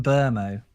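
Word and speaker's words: Mbeumo: I think he said it's Mbuemo? Brian Burmo. Oh, Brian Burmo. Like the B is or the M is silent.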